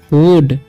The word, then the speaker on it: would: WOULD है तो इसे पढ़ेंगे हम वुड, ठीक है। एल जो है यहाँ पर साइलेंट रहता है, जब भी LD साथ में रहेगा तो एल साइलेंट रहता है, ध्यान रखना है, ठीक है।